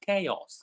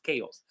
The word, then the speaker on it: chaos: ch but it's pronounced chaos chaos. So the ch pronounced as k.